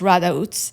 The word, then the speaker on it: Rădăuți: She lived in Radautz. Um that's uh it's spelled r a d u t i but pronounced Radautz.